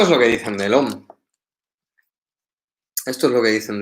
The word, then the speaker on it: Om: Gambira, ¿por qué se escribe A-U-M y se pronuncia OM? Y me miró muy extrañado. Y me dijo, ¿tú cómo te llamabas? Le dije, Jorge. Dice, claro. Y yo para llamarte, yo no digo, oye, J-O-R-G-E, sino que te llamo Jorge. Dice, pues el OM es igual. No vas a decir A-U-M, sino que dices OM, no las letras.